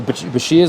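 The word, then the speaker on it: bichir: There's some weird things like alligator fish birches. Yes. Or bashirs, I think some people pronounce it as.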